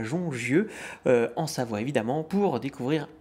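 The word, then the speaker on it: Jongieux: Éric Carrel, bonjour, vous êtes vigneron à Jongieu, je prononce bien? Tout à fait, à Jongieu.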